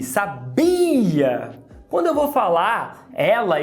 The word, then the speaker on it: sabia: Você sabia que a palavra sabia tem os mesmos segmentos fonéticos que sábia e sabiá? A única diferença é a sílaba tônica.